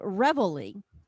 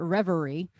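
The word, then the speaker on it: reveille: you know you can that song is called revelly and i mispronounce it a lot i call it reverie but it's it's definitely not a party when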